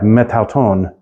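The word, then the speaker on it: μετ' αὐτόν: The Greek would end up dropping, would not pronounce that A at the end. They would just, you would have metauton, kind of slurring this together in a way.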